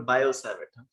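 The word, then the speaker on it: Biot–Savart: सो इसमें T silent है, it's called बायोसेवर्ट.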